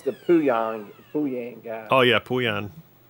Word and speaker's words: Pooyan: Oh, yeah, Puyan. Puyan is fun.